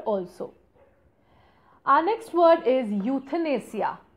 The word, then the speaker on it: euthanasia: Our next word is euthanasia. Now this is not euthanasia. Okay, please see the pronunciation. It's euthanasia.